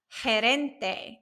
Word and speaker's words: gerente: Gerente. It has that soft G sound.